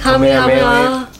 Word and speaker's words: Kamehameha: Kamehameha.